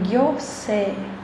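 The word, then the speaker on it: 行政: E gyosei, que o se é mais alto, não é si, né? É se, o i é o prolongamento do e.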